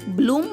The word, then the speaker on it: BLOOM: మిత్రులారా, BL యొక్క శబ్దం బాలా కాకుండా బ్లా అవుతుంది. కాబట్టి BLOOM యొక్క ఉచ్చారణ అవుతుంది బ్లూమ్ అంటే వికసించడం.